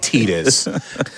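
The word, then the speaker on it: Tidus: Some people say Titus, some people say Tetus. Today we have a really really specific donation uh bid war which is you can donate to see how we pronounce this character's name because for me I say Titus Foxy what do you say Titus? It's what do you say? It's Tetus. It's canically Tetus.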